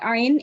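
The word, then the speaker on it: ع: It's about the ayn itself. What type of, how do you pronounce this letter? Ayn. So from your middle of your throat, correct?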